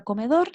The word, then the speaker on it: comedor: Como por ejemplo en la palabra comedor, la sílaba que se pronuncia con más fuerza es dor.